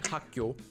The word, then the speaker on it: 학교: Naturally, just by saying hakyo, you're already saying this sound change rule. The first syllable, hak, ends with a base consonant, kyok, and the next syllable begins with a base consonant, also kyok. This is what this sound change rule is.